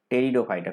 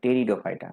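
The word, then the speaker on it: Pteridophyta: সেরকমই একটা কথা আছে টেরিডোফাইটা, পিটা উজ্জ্ব থাকবে, উচ্চারণ করতে হবে টেরিডোফাইটা, তাহলে এই পিটা ভুলে যাও, টেরিডোফাইটা।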